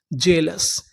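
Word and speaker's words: jealous: यहां पर जो ए है वो साइलेंट रहेगा। ए का उच्चारण नहीं करना। एल ओ यू एस लस जेलस।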